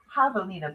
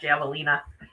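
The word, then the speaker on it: javelina: Havalina baby. I have to say it. I have to pronounce it correctly, right? It's Havalina, not Javalina.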